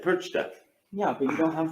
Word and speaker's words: Perchta: You know, Frau Perchta? Mhm. Perch? is he saying it right? No.